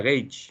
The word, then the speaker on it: gauge: se le llama gauck se escribe gauge se pronuncia gays y si quieren investigar